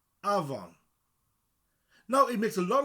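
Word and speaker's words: afon: The F is a V sound. Avon, river. Avon. Avon.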